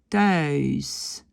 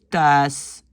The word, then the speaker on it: thuis: Normalement, on doit dire thuis. On doit dire luizen, kuisen. Mais beaucoup de flamands ne disent pas ce petit i et donc disent thuis, luizen, kuisen.